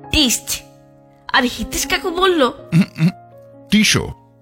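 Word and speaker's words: Tissot: আর হিতেশ কাকু বলল টিশো শেষের টি টা উচ্চারণ হয় না আমার এয়ার গানটা খুব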